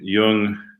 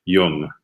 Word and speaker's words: Yeung: too much detail but basically young or yang style refers to a family's name so most often the family is and the style is referred to as yang style why ang but actually more more precisely translated I guess you could say or spelled in English it would be young ye even G the family's name the